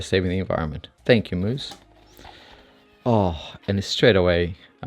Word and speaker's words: Mous: very popular case the moose limitless 3.0 in our mid fiber i think we're landing on moose by the way how he pronounced him not mouse i'm gonna stick with moose i don't know i'm